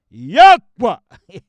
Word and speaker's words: Yahweh: But we will be using the 4 letters, which they call the Tetragrammaton, which we'll be using exclusively, which we pronounce Yahweh. That's how we pronounce it.